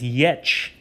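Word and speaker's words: Ե: Next is Yech, uppercase, lowercase, pronounced as Ye.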